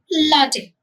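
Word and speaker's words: latte: कैसे प्रोनाउंस करोगे? लाटे, गॉट इट।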